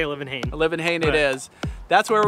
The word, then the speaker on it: Olivenhain: Oh, we say Olivenhain.